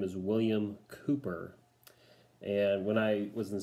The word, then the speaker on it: Cowper: does not work for his last name's pronounce Cooper so William Cooper and he